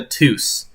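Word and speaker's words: Ptoose: He's called the Tous. And tous is spelled like this. It's spelled P T O O S E.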